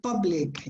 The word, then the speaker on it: public: careful with the word the pronunciation of the word public is the same as a stuff cut cup uh what was the